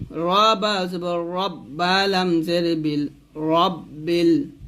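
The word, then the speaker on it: رَبِّ: রব্বিল, রবা জবর রব্বা লাম জের বিল, রব্বিল। রাব্বিল বলা যাবে না, এখানে রব্বিল বলতে হবে, কারণ এখানে রটা মোটা করে পড়তে হবে।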